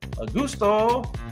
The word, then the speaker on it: Augusto: Augusto. La la la. Augusto. 3 syllables.